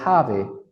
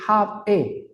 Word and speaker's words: have: I have Card I have Card porque jave lo pego porque la vocal e Dejad se escribe pero no se pronuncia y queda la v